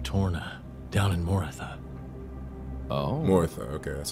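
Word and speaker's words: Morytha: Morotha, okay, that's how you say it.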